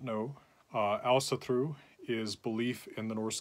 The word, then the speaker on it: Ásatrú: of different guises is Alice said through to use the modern Icelandic pronunciation of that word which seems to be